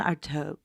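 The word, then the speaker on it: Artaud: a theater director named antoine artoa which is spelled a-r-t-a-u-d because you know that's how french works arto was all about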